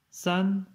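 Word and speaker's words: 三: San, donc premier ton aussi.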